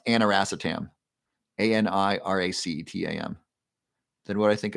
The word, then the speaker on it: aniracetam: You're gonna start taking lion's mane, B complex curcumin, and it's pronounced aniracetam, ANIRACETAM.